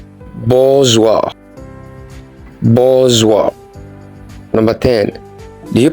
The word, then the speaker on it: bourgeois: Do you pronounce this as bourgeois? That's wrong. It is pronounced like this: bourgeois.